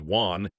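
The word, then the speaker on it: 卍: Chinese writing system as a character pronounced as Juan, meaning 10,000 or myriad.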